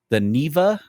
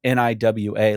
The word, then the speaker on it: Niwa: at this weird location called the Niva, or it's spelled Niwa, like the Niwa Resort, which is an abandoned workers resort in Poland.